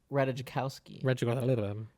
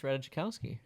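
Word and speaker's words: Ratajkowski: the movie than Emily ratajikowski Reddit I think as you say I think you just say ranikowski I think it's ratajikowski ratajikowski there's a j right there yeah everybody got to be silent r-a-t-a-j-k-o-w-s-k-i ask Google how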